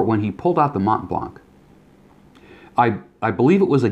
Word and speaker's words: Mont Blanc: which I guess the proper way of saying Mont Blanc is Mont Blanc, right?